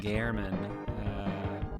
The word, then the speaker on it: German: in a high school named German pronounced Garman action origin substitute teachers